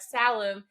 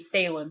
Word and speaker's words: Salem: person call me salum like who has ever pronounced the name Salem Salam have you never heard of where the witches were burned have you never heard of that come on well at